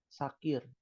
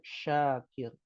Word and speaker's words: Syakir: ada ejaan syin ya jadi kadang dipanggil apa sakir ya padahal yang benar Syakir ya hati-hati Umah dalam